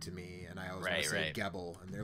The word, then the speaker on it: Gebel: it as well I don't think is he G Bell which also that is I also think that's not the right way to pronounce that that's how the dude in the